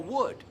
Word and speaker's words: would: La L no lo pronunciamos. Es que no. Tampoco en could o would. Esas tres palabras, could, would, should. ¿Oyes alguna L? No.